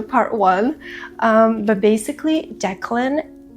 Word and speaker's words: Declan: It's not Dclan. Moving forward, I'm going to say it right. I'm going to say Declan, even though I have never heard this name before in my entire life.